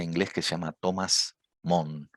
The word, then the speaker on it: Mun: que se llama Thomas Moon. Moon se escribe, M-U-N.